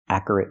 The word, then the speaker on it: accurate: Accurate notes. The word is pronounced accurate. We need the y sound, like in yes and yesterday. Your, plus the sound. Your, like your name. Accurate.